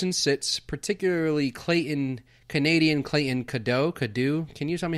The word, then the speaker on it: Cadieux: It's at Clayton Cadeau, right? At Cadeau Clayton. Okay, at Cadeau Clayton. And that is spelled Cadieux.